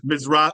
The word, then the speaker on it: Mizrahi: Mizrahi.